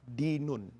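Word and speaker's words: دِين: Dan yang ingin saya tutup pertemuan ini, agama itu dalam bahasa Arab dinun. Hutang itu dalam bahasa Arab dainun. Jadi hurufnya sama, tapi beda cara bacanya.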